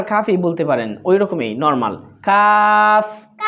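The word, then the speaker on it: قاف: ফা তারপর কফ কফ কফটা একটু ভিন্ন হ্যা এটা আমারটা শুনেন শুনে উচ্চারণ করার চেষ্টা করব করুন কফ কফ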